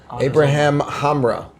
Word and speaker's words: Abraham Hamra: Abraham Hamra. Yes. Am I pronouncing it correctly?